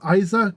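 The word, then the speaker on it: Eiza: Yeah, Ben Schwartz is absolutely hilarious, and Plastic Man is a goofy character. So, yeah, he is. I would love to see him take on that role. Next is Hawk Girl. I have Isa Gonzalez.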